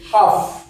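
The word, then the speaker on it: half: পড়তে পারা পরেরটা হচ্ছে কি এইচ এল এ হাফ হাফ এইচ এ এল এ কি হয় হাফ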